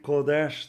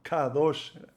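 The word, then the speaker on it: קודש: Y en vez de decir Kodesh, decimos Kadosh. Por ahí, sin querer, se estará diciendo otra cosa en hebreo.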